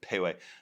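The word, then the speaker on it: Pehoé: It's spelled P-E-H-O, but it's pronounced Pauai.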